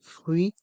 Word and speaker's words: fruit: pressé un jus de fruit pressé le mot jus se prononce sans le S car le s est mué fruit le thé de fruit est mué un jus de fruits